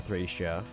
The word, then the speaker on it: Thracia: 10 25 streams now we haven't streamed uh thracia um which by the way is the correct way to pronounce it in the localized form uh so